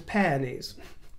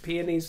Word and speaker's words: peonies: PES do you know I always mistakenly pronounced peonies as PES it was only a few years ago I discovered that I was getting it wrong so that was a